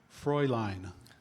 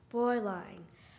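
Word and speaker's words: Fräulein: Philippic uh this word could be um okay just I'm going to pronounce the word for you. Frey line. Fre line.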